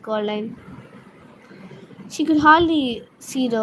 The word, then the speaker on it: Coraline: No, said Coraline. The old man shrugged. They're funny, the mice. They get things wrong. They got your name wrong, you know. They kept saying Coraline, not Caroline. Not Caroline at all.